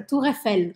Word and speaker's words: Tour Eiffel: Tour Eiffel, como se fala em francês.